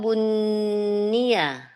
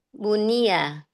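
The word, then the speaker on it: بُنِيَ: fi'il itu fi'il lidzalika bunnia. Bunnia salah kalau bacanya gitu. Salah. Eh, fi'il kan ustaz? Iya, fi'il. Bunyia salah yang dobit coba yang akurat bacanya. Lidzalika bunia. Iya. Lalika bunia nunnya jangan ditasdid biasa bunia itu kan kalau bun.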